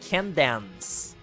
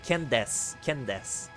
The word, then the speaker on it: Candace: That name, I thought it was spelled like Candance. Like the final part is like dance, like dancing. But no, it's like Des, like Dace. It's like Candace.